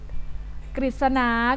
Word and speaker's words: กฤษณา: นะ คะ ต่อ ไป การ อ่าน ออก เสียง เป็น ริ เช่น ฤทธิ์ ก็ คือ ผู้ มี เสื้อ ผ้า นะ คะ สิ่ง ศักดิ์สิทธิ์ กฤษณา ก็ คือ ส่วน ของ